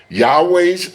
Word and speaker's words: Yahweh: Notice that the vow points underneath Yas Yahweh's name are different than 3068 and produce the pronunciation Yahooi. The name Yahweh is the most accurate pronunciation of the Most High's name.